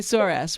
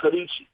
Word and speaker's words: Sorice: We're not going to say sorass, right? But we're going to say Sorice. So we're going to say Sorice. Okay, Sorice. It's actually an Italian name, and it's pronounced Sorice.